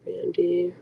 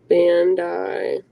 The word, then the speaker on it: Bandai: at right now stress by Bandy pronounce Bandai oh thank you I didn't know how to say that um Google them they